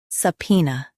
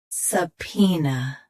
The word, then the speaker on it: subpoena: shown on the screen, subpoena. Both US and UK have the same pronunciation of this word. Stress P. Keep S soft and N light. Subpoena. Subpoena. Stress P. Keep S soft and N light.